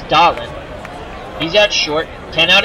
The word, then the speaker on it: Doolin: Bill Doolin, pronounced, I think it's Dolan.